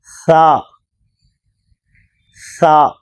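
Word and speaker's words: ث: தா என்று சொன்னால் போதும் இது சா இதில் இரண்டு புள்ளி உண்டு மேலே இங்கு மூன்று புள்ளிகள் இது சா இந்த எழுத்தை உச்சரிக்கும் பொழுது நுனி நாக்கை மேல் பற்களில் வைத்து உச்சரிக்க வேண்டும் சா சா அடுத்த எழுத்து ஜீம் ஜீம்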